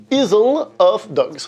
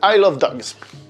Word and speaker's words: Isle of Dogs: Isle of Dogs. Je fais exprès de prononcer comme ça, c'est I love dogs.